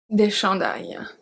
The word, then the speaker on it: chandails: Un chandail, des chandails. Un chandail, des chandails. So remember, we don't pronounce the S.